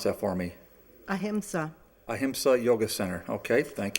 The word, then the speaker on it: Ahimsa: I'm going to let you pronounce that for me. Ahimsa.